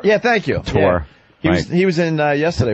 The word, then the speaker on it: Couture: Randy Couture? Yeah, thank you. Couture.